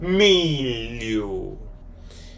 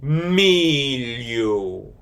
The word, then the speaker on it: milho: Milu. Milu. M I L H O. Mu. Mu. The letter H is silent on this one.